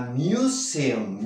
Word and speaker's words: museum: Were we visiting, de nuevo, visiting, no visiting, visiting a museum, M-U se pronuncia como si hubiese una I de por medio.